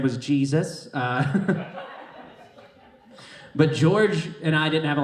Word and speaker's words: George: You know, I'm the only one that pronounced his name right. Everybody else called him Jorge. I had this other coworker you guys would like. His name was Jesus. But George and I didn't have